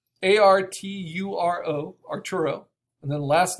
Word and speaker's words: Arturo: name is art so if you type in Arturo Herrera or Arturo Herrera art you'll see the